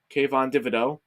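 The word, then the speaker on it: Kayvon Thibodeaux: great great pick uh kvon thibodeaux actually pronounced his name i didn't actually have to butcher it kayvon davido who is the edge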